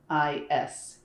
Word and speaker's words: Eilis: It's Eilis. It's an EI like an 8 and an S like in Sean.